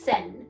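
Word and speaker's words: 線: this is the kanji character for line and you pronounce it as sen so this character sen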